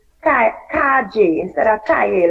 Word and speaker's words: calle: They say like they really say como te llama, and they also say calle instead of calle, like street. The word for street they say calle, the LL as a J.